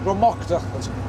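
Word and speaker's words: Drumochter: Dromocta, that's how it's pronounced.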